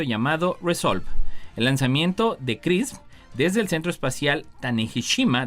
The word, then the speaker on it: XRISM: Un nuevo satélite llamado Misión de Imágenes y Espectroscopía de Rayos X, o el acrónimo XRISM, por sus siglas en inglés y que se pronuncia CRISM, tiene como objetivo separar